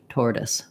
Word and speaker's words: tortoise: in work and word but sometimes they do say or like in tortoise so we have tor and then this whole section is just a schwa and an s us tortoise so it looks like tortoise or something which is probably comes from the french but in american english tortoise tortoise yes thank you so